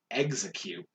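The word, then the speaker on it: Exeggcute: crabby kingler voltorb electrode ex sorry execute yes that one up i was going to be like whoa what are you doing cute no you've heard me say yeah before um i know some people who are very specific about like no it's x and you tour ew no it's exaggerated it's executor yeah i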